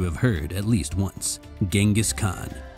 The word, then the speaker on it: Chinggis Khan: heard at least once Genghis Khan or chingus Khan if you're going for what is apparently a slightly more accurate pronunciation in the following decades